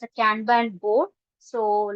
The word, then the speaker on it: Kanban: So where others are no like it involves no like a framework method, but Kanban is a visual method. So other things, like it's pronounced as can and ban.